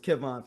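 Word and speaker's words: Kevan: his daughter right because it's Kevin Lannister not Kerwin it's Kevon for people before y'all get the email and talk about you know you got his name wrong it's Kevin that's very color that's a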